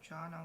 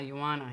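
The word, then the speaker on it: Joanna: yes ah Yan ah you pronounced that as why okay mhm oh well she is she's not American Yana oh okay uh I forgot what country she's from but yes the J is pronounced as a why in her country um yeah it would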